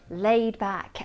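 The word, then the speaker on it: laid-back: I love eating in this restaurant because it has a lovely laid back atmosphere. With this adjective, the D at the end of laid is not released.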